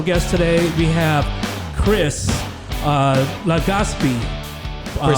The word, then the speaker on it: Legaspi: We have Chris Legaspi. Chris Legaspi. Legaspi. That's how you say it.